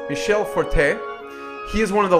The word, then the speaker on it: Michel Fortin: to have Michel Fortin the french-canadian actual pronunciation is Michele Forte he is one of